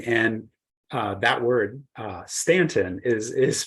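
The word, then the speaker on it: Staunton: Stanton Virginia and and uh that word uh Stanton is is pronounced with a with that a sound in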